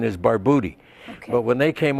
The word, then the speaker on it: Barbutti: called Santo Mena and in Italian the U was pronounced like ooh so the correct pronunciation is barbouti okay but when they